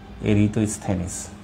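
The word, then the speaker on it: Eratosthenes: ভূগোলের যে জনক তিনি হচ্ছেন ইরাত বা উচ্চারণটা যেভাবে করেন আসলে ইরাত স্থিনিস ইরাতস্থানিস বা উচ্চারণটা এরিতনিস মাধ্যমিকের বইয়ে বোধহয় ইরাতস্থেনিসই লেখা আসলে উচ্চারণটা এরিতস্থেনিস একজন গ্রিক দার্শনিক ছিলেন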